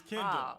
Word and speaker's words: Kendahl: So the H is silent, so don't come with Kendall. Don't do none of that. It's Kendall, okay?